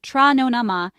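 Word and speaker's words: Tráthnóna maith: In Irish, trathnona maith, pronounced tra nona ma, is used to greet someone in the evening.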